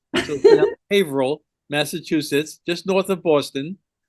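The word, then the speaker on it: Haverhill: Um, we're in Haveril, Massachusetts. It's spelled Haver Hill, but this is New England. They don't say things the same way as everybody else. So, Haveril, Massachusetts, just north of Boston.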